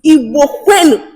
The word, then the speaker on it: Igbo Kwenu: Igbo Quenu. And I Agbu Kenru Igbo Kwenu. Igbu Kenru. Yeah. It's Igbo Kwenu.